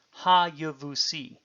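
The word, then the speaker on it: הַיְבוּסִי: Even though written without the Doggish forte, the word is still pronounced with a vocal schwa.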